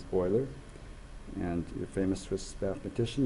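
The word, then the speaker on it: Euler: we know that uh we think that we would pronounce that uler but his name is boiler and your famous Swiss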